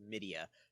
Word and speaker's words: MIDiA: I believe it has to be pronounced Midia, MIDIA research. Basically, their analytics show and